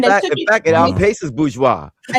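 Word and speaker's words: bourgeois: The term bougie was because people couldn't pronounce bgeoa. They start they started saying bougie. Bougie. It's I'm like, what what are you talking about? It's bgeoa.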